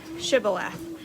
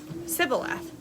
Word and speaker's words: Shibboleth: If the man said, "No, I'm not," they would tell him to say Shibboleth. If he was from Ephraim, he would say Sibboleth, because people of Ephraim cannot pronounce the word correctly.